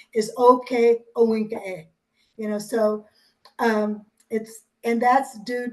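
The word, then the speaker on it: Ohkay Owingeh: So you pronounced it okay, not okay, but okay. And awinka was Owegeh, Owinge. So it wasn't Owinge like it is now.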